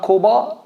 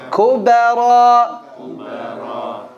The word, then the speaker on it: الكبرى: Also became saying Kuba, not Kuba, Kuba. It's like Kubara.